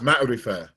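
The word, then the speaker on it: معرفة: my lethal battle refer it's pronounced matter affair matter fire is the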